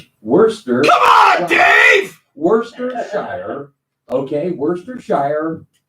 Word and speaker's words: Worcester: It looks like that's how it's spelled, but the only way I know is because there's a city outside Boston called Worcester. Yeah. WORCESTER. Yeah. So that's really how you say it, man.